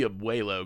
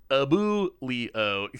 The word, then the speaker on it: Abuelo: I look at that, I know it's supposed to be Abuelo, because y'all taught me that, but... but... Abulio. Kind of... It's still... If I just look at the word, that pronunciation actually still makes sense to my brain.